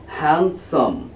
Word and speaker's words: handsome: उसे पढ़ा जाता है हैंडसम। क्या पढ़ा जाता है, हैंडसम। ठीक है, उसमें भी डी साइलेंट रहती है। ठीक है, HANDSOME होता है, तो उसमें भी डी साइलेंट रहती है, हैंडसम।